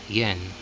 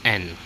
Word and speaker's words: 円: But strictly speaking, in Japanese language, you don't say yen. It's silent y, so it's n.